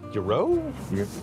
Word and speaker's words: gyro: I mean, but is it a gyro?